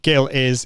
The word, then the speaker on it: Gil: And okay, so Gil it's a hard G like goat.